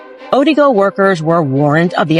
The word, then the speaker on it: Odigo: There was an instant messaging service that was called Odigo. Maybe I'm saying it wrong. Odigo, O-D-I-G-O.